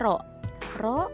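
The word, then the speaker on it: ρ: ya jadi ke ini dinamakan dengan Rocky bacanya roh-roh untuk mengetahui massa jenis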